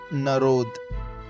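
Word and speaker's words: народ: Narod Na-rod Stress is on the second syllabi.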